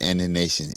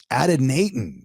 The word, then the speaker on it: adynaton: All right, boys and girls, let's get the pronunciation of ADYNATON. Adenatin. You were so close.